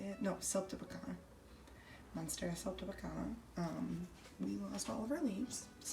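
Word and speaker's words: siltepecana: No, Celtibacana.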